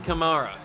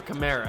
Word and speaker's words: Kamara: that man right there Alvin Kamara or Kamara however you want to pronounce it I think it's Khmer Alvin Kamara they're gonna hand it